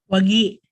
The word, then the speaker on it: WAGI: How we pronounce it? Is it WAGA or WAGI? WAGI.